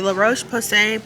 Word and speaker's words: La Roche-Posay: Okay, now as far as a facial cleanser, the La Roche-Posay, that's how you pronounce it.